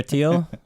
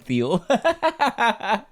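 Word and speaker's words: Thiel: Peter Teal. I keep saying Theel. Peter Teal. It's Teal, I think.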